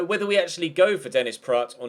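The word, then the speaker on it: Dennis Praet: like you'd say it like this T so Dennis Pratt is how you say that name and I'll try and get that correct throughout the rest of the transfer window whether we actually go for Dennis Pratt or not is remaining to be seen Mar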